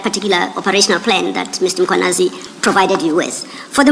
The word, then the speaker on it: Mkhwanazi: There is no A right at the beginning of that first syllable. The A is after the H, so it's Mkhwanazi, not Mkhwanazi.